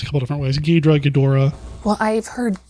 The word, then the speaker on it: Ghidorah: I've heard it actually pronounced a couple different ways. Ghidorah. Well, I've heard Ghidra, but okay.